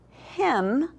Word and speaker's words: hymn: When we look at the word hymn, like a song that we would sing at church is a hymn, we know that the N is our little ghost. We don't say N in hymn, okay?